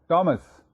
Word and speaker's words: Thomas: THOMAS, written as Thomas, pronounced as टॉमस, याद है आपको? वो गलती ना कीजिएगा आइंदा कभी, उसमें एच साइलेंट है, वो टॉमस है.